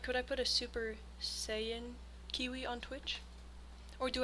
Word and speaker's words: Saiyan: Saiyan. Say yan. Saiyan. Super Saiyan. Um, what was I going to say? Oh, yeah. Can I put custom emotes on Twitch? Like, could I put a Super Saiyan Kiwi on Twitch or do I need to